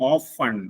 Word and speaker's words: often: മറ്റൊന്ന് option B, ഓഫൺ.